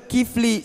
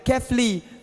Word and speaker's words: Kefli: Ada orang kata Kifli, saya panggil Kefli. Dia K-E-F-L-I.